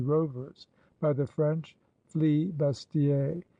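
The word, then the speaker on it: flibustier: By the Hollanders, they were named Z Rovers by the French flee bastier, which was only the Frenchman's way of pronouncing free booter.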